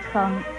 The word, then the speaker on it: 瞠: 称字的国语注音是吃恩称，一声称，称一声称。